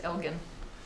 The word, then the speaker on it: Elgin: I think they pronounce it Elgin.